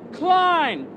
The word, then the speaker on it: Cline: Representative Ben Klein, rhymes with swine, of the 6th Congressional District.